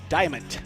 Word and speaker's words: Diamant: And you spell it Diamant. Yeah. Diamond, naturally.